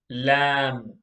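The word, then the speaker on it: لام: box number 23 is lamb say lamb this is like this sounds like the letter l in english el lam okay box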